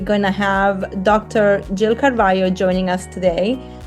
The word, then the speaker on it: Carvalho: Carvalho and and uh it's spelled with an L but pronounced Carvalho I just learned.